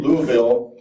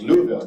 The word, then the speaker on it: Louisville: this is a year of celebration culminating in Louisville he pronounced wrong as Louisville not Louisville in Kentucky in July with our